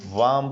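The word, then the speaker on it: warm: यहाँ पे जो वर्ड्स है ये वार्म पढ़ा जाएगा। ये आर जो है यहाँ पे ये साइलेंट समझो, ये साइलेंट है।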